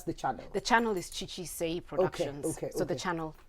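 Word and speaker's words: Chichi Seii: to you is just go go watch it chi-chi say uh do you want to spell that for us c c-h-i c-h-i yes s-e-double-i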